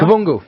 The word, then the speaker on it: Kavungu: Kavungu. Okay. Katherina Kavungu. Yeah, you pronounce it better than I do.